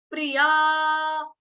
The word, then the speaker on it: प्रियाः: पे हल्का सा में प्रिया हा, प्रिया, प्रिय, या, और विसर्ग जो एंड में देख रहे हैं 2 डॉट्स, उसका उच्चारण होगा आपका हा से होगा।